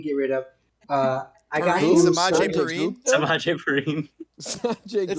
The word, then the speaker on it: Samaje: Samaje.